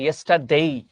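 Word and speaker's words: yesterday: লাস্টটা ভুল আছে, লাস্ট আফটারনুন বলে কিছু হয় না, এখানে হবে ইয়েস্টারডে আফটারনুন। আসলে উচ্চারণটা হচ্ছে ইয়েস্টারডেই, ডে কিন্তু উচ্চারণ না, ডেই।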